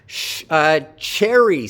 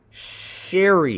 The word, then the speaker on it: Cherry: Cherry. So Cherry, according to Cherry, the pronunciation of her name begins with an affricate. It's not sherry, it's cherry. So che with a stress on the first syllable.